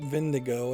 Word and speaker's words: Wendigo: had to be the vendigo the shaman was right he really had a beastly stench they pronounced it vendigo at that point am